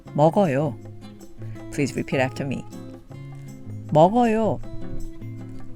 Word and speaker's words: 먹어요: Add 요 to this and we have 먹어요, which is pronounced 먹어요.